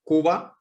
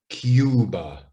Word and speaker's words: Cuba: survive cube but now remember only the e is silent so where in spanish they say cuba in english we say cuba because vowel consonant vowel this becomes the capital